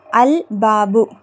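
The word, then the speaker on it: الباب: Next பாருங்க பா அல் பாபு அங்க பாருங்க அலிப் லாமுக்கு அப்புறம் என்ன எழுத்து வந்திருக்குன்னு பாருங்க பா வந்திருக்கு. பா வந்திருக்குன்னா அது கமரியாவுடைய எழுத்து. அப்ப கமரியாவோட எழுத்துனா லாம் உச்சரிக்கப்படணும். அதுதான் இங்க மெயினா பாரக்கணும் சரியா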